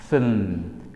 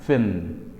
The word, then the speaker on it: film: sound ရှိပါတယ် L ကတော့ကျွန်တော်တို့က like L sound လေးနဲ့အတန်ထွက်ပြလို့ရတယ်အဲကြောင့်မလို့ fin ဒီလိုအတန်ထွက်ပါတယ် Okay so repeat after me fin Great နောက်တစ်လုံးကိုကြည့်အောင်ဒီစကားလုံးဖြစ်ပါတယ်ဒီစကားလုံးကိုအများစုက Wednesday လို့ထွက်တတ်ကြပါတယ်ဒီစကားလုံးမှာအတန်က3တန်မရှိပါဘူး2တန်ပဲရှိပါတယ်2 syllable ဖြစ်ပါတယ်ဒါကြောင့်မလို့ Wednesday လို့မထွက်ပါဘူး Wednesday လို့ပဲထွက်ပါမယ် Wednesday အဲ့တော့အတန်2တန်မှာရှေ့ဆုံးကအတန်မှာ